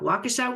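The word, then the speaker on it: Waukesha: pronounce the city name how do you say that wakesha wakasa wakesha Wisconsin three of her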